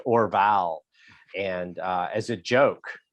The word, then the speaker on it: Orval: but it's spelled weird it's o-r-v-a-l like or vowel oh like like Mark